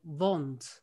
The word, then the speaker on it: wound: And if you go to the original pronunciation Shakespeare plays, a lot of words sounds Dutch, like a wound, they pronounced it then wond, and in Dutch it's wond.